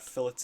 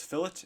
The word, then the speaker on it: fillet: So the correct pronunciation is fillet and chamfer. I hear a lot of people in, especially lower years, call these like a fillet and a chamfer and all these kind of wacky names.